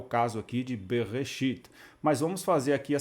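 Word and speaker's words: בְּרֵאשִׁית: Então ficaria assim, beit mais shivá, b, a segunda sílaba, resh, tsere, e o aleph ficaria re, e a última sílaba da palavra bereshit seria o shin, o chirik yod e o tav, que é uma sílaba fechada. Então você tem uma meia sílaba, por assim dizer, b, uma sílaba aberta, re, e a sílaba final, a sílaba fechada, consoante, vogal e consoante, seria shit. Então ficaria bereshit, em princípio.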